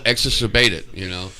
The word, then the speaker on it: exacerbated: Once you know how to say it, it's pretty cool, Well, rhymes with what? That's all you got to remember. Rhymes with what? Fascinated. Exacerbated. Pollinated.